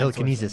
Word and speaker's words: telekinesis: The son of the blind Telekinesis.